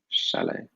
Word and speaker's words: chalet: or a shadow yeah French word so we don't pronounce that T chalet which house would you